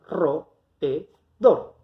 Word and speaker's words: roedor: y van a quedar roedor. En este caso, nosotros estamos frente a una palabra aguda, porque si nos fijamos, la sílaba tónica es dor, que contando de derecha a izquierda es la primera sílaba.